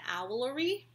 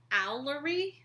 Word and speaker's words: Owlery: I've been saying it wrong. Because Stephen Fry says it Owlery. I was saying Owlery. Oh. Yeah, Owlery. Which isn't so hard once you get used to it. But it's Owlery. E-R-Y, not R-E-Y.